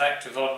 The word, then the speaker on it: Activeon: on the activity eggs I'm told it's pronounced active odd not activated by a commentator in